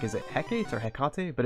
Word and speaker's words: Hecate: I was just looking this up because I was like, is it Hecate or Hecate?